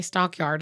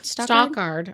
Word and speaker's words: Stockard: I always want to say Stockyard, and it's definitely not Stockyard. Stockard. Not related to Channing Tatum. Why would that be? Channing is a first name. Why would Stockard Channing be related to Channing Tatum, Robin?